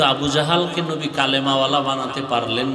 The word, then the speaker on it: জাহাল: তো দুই একজনের নাম এইমাত্র তো বললাম আবু জাহাল জেহেল না জাহাল নাম হলো ইমাম বলে গাজ্জালি না গাজালি বিশুদ্ধ উচ্চারণ গাজ্জালি না আর আল্লাহ যদি কবুল করে